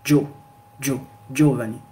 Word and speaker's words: Giovanni: Par exemple, ici pareil, donc le i ne se prononce pas. On va dire ici, on ne va pas lire Giovanni, on va dire Giovanni. Donc Giovanni. Giovanni. Le i disparaît.